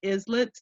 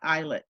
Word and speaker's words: islets: one is the pancreatic islets and it is pronounced islets not islets okay so pancreatic islets and that has to do with diabetes so